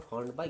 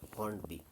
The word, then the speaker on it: Hornby: Some people may call it Hornby because of the earlier association of by as pronounced by. So Hornby, and then after hearing someone making the correct pronunciation or consulting a dictionary, I may come to the correct decision that no, correct point that it is not Hornby, it is Hornby.